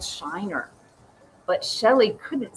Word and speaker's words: Shiner: Shelley tried to say Shiner, but it sounded like Signer.